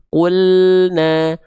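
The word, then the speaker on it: قُلْنَا: Maka di sini jangan sampai teman-teman lafalkan qulna. Nah, ada qule-qule enggak ya? Tapi qulna. Qulna qulna. Jangan qulna gitu.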